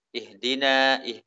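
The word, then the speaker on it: اهْدِنَا: Contoh ya, yang suara ha-nya itu lemah. Ihdina, ihdina. Ya. Harus dikuatkan.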